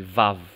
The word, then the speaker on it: vav: Kalau modern, Ibrani modern, wow itu dibaca v, jadi vav. Ya. Tapi kalau Ibrani kuno, itu dibaca wow atau w.